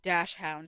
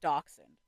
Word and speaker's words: dachshund: Let me know if you know the reason why some people say dash hound instead of dachshund because that's crazy Mhm.